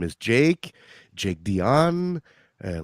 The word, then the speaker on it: Dion: don't you go ahead and introduce yourself mr dion hey well first of all thanks for having me uh my name is jake jake dion uh like celine so it's zero in french